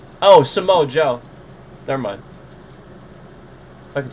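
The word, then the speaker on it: Samoa Joe: Um I just again he's such a I don't want to say his name wrong. Oh, Samo Joe.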